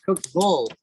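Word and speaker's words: Cookeville: By the way, they're, you know, all kind of different Southern accents, and Cookville is pronounced Cookville, V-U-L by the Tennesseans.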